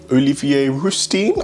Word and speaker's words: Olivier Rousteing: Yes, obviously, there are other people of different races who inspire me as well, but like, Oprah, Ava DuVernay, Shonda Rhimes, fashion-wise, Olivier Rousteing, I believe is how you say his name.